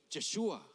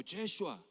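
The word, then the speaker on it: ישוע: En hebreo, Josué se pronuncia Jehoshua y Jesús se pronuncia Yeshua o Yeshua.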